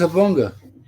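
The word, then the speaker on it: Jabonga: This is Habonga. I'm sorry, say again. Habonga. Habonga. Yeah, the J is silent.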